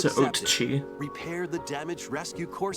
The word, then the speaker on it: Oatchi: Your mission, should you Gotta choose pronounce to it accept Oatchi. repair the damaged rescue corps I thought it was spaceship Owachi.